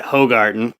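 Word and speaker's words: Hoegaarden: favorite beer yeah yeah though i pronounce it like an american i pronounce it hogarden yeah it's actually it's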